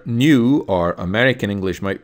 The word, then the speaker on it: nu: The Greek letter nu, or American English might pronounce it nu, looks kind of like a V in the lowercase.